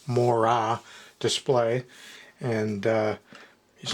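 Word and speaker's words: Moiré: the robot that has the Mo or more correctly pronounced Mora display.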